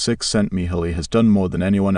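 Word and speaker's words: Csikszentmihalyi: The psychologist Mihi cioli pronounced six sent Miholi has done more than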